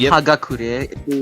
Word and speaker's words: Hagakure: ] oh my God haak y'all remember haak oh I remember is that how you pronounce it hagakure it's hagakure I was gonna say yeah